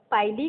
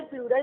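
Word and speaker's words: pili: Appendages क्या कहलाते हैं, पाइली कह लो, पाइलस कह लो, सिंगुलर प्लूरल का डिफरेंस है, पिली कह लो इसको। ठीक है, प्रोनाउंसिएशन कैन बी डिफरेंट।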